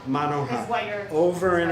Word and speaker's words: Monoha: is on what's it pronounced? Monoha. Monoha.